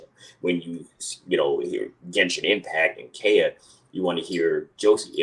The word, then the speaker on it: Kaeya: fans, I'm sure they'll want me to say Kaeya is the correct pronunciation. Kaeya.